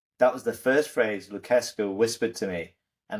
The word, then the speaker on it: Lucescu: teams, and his unofficial mentor was coach Maestro Lucescu, I think it's pronounced, who's Romanian, and he brought him into